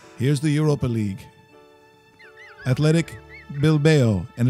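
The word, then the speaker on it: Bilbao: the Europa League athletic bill bell and it's not bill Bowa like Russell said earlier like Rocky it's not how you pronounce it is it mean some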